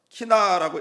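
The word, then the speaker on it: קינה: 애가는 우리 다들 아시죠? 키나라고 읽는데요, 장례식 때 부르는 장송곡을 얘기합니다.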